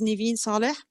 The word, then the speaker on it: Neven Saleh: role there and of course get your name pronounced correctly okay my name is niveen saleh i am an assistant professor at biomedical engineering